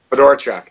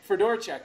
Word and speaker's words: Fedorchuk: Curtis Fedorchuk, and I'm hoping I pronounce it right. Fedorchuk. Fedorchuk. All right, so I was close. Fedorchuk.